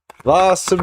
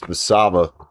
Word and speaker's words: Vasaba: And Hosa Music, what's up? Welcome back. Or Vasaba Music, I'm sorry. I always say your name wrong. I always call you Music. It's Vasaba.